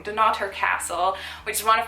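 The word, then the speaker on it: Dunnottar: on the Wednesday evening going to this epic castle on the coast and not her do not her I keep saying it wrong do not her castle which is one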